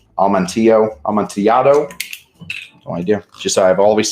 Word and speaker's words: Amontillado: There is Almondillo. That's not how you say it. Amontillado.